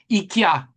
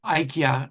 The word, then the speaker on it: IKEA: IA or IKEA as some pronounce it that way invest in renewable energy, sustainable materials and and a circular kind of economy practices.